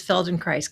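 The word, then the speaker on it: Feldenkrais: So can you tell us what exactly is Felden Christ because I've I have personally I have never heard of that one.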